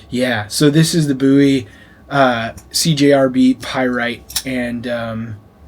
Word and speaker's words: Bowie: There Bowie buoy um believe it's actually pronounced buoy but a lot of people say Bowie uh it's like tomato